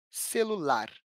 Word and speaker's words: celular: Celular. A sílaba tônica está na primeira posição, contando do final para o começo da palavra.